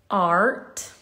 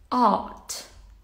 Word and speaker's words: art: uh now this word in american english it's art okay you pronounce the r in british it's out okay sorry i feel